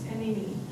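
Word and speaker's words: iinii: Or Te Oyate, or learn a word from what the Blackfeet, Ini, is that how you say it in Blackfeet? Who's Blackfeet in here? Something like that. Ini? It's Ini. Ini, yeah.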